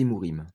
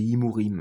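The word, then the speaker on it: חמורים: c'est les c'est les hmurimes d'accord moi je dis himurim mais en vérité il faut dire hmurim je prononce mal d'accord voilà ça c'est 80 % et ça c'est 20 %.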